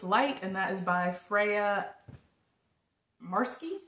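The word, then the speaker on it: Freya Marske: and that is by Freya marsky I believe is how you say her name um so you could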